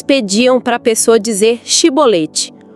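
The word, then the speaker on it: shibboleth: Para identificar os efraimitas que tentavam fugir, eles pediam para a pessoa dizer Shibolete. Os efraimitas não conseguiam pronunciar o She e falavam Sibolete, e eram mortos ali mesmo.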